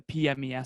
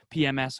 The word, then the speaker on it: PMES: we talk about the pmes system we we created p-m-e-s i got to pronounce that correctly because other people otherwise people think it's pms or the other thing so physical mental emotional